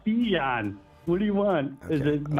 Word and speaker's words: Bijan: And just because you've said Bijan's name wrong for so long, can you say his name?